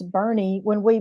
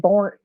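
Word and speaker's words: Boerne: knows how to pronounce Bernie. Before we went there, we said Boern or something.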